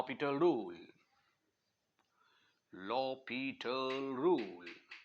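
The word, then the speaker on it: L'Hôpital: apply law पिटल rule law पीटल rule इसके spelling हॉस्पिटल वाले हैं लेकिन हॉस्पिटल नहीं पढ़ना इसको लॉ पिटल रूल पढ़ेंगे लॉ पिटल रूल ये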